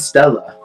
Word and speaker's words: Stella: And Stella. Written as a main true body, but pronounced as Stella, which means celestial star in Latin.